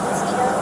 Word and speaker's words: Petito: Gabrielle, how do you spell that? G-A-B-R-I-E-L-L. And your last name? Petito.